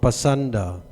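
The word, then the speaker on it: pāṣaṇḍa: The word Pankanda used in this verse is sometimes pronounced Pasanda.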